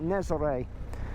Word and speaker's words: Nazaré: I'm leaving for Nazaré. I looked it up. That's how you say it. Nazaré.